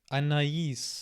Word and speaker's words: Anaïs: Anaïs. Oh, so the double pointed I is like indicating that the S is to be pronounced, I guess.